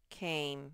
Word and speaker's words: came: K-aim, came. Remember the E is silent. All its job is to make this one say its name. Came.